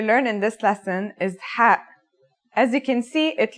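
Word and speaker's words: ح: It sounds like the sound you make when trying to cool your mouth and throat after eating something very spicy.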